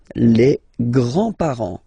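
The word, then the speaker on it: grands: with the the grandparents Grand remember you don't pronounce this final s here Grand okay so grand grandfather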